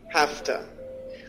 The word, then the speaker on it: have to: the to sound and we say hafta hafta I have to work tonight I have to work tonight very good now we know that when we use have to one way to change the pronunciation is saying hafta I have to work tonight but an also very common way to say hath to is gotta we change the sound completely and we say gotta I gotta work tonight